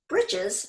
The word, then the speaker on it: breeches: covered the jaw bone bridges spelled like breeches were made out of